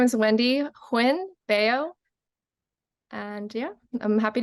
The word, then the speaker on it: Huynh: and I'm going to ask her to uh pronounce her full name for us Wendy hi my name is Wendy Hinn beo and yeah I'm happy to be here